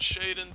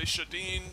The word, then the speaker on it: Shadin: say it shaden s-h-a-d-i-n i call it shaden but uh some people say shadeen shad and that sort of thing it all depends on your dialect i suppose you don't know how